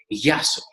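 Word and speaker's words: γεια σου: will be very soft, like yasu, yasu, or just ya, which means hello or goodbye, yasu. So gamma, gamma, or yasu.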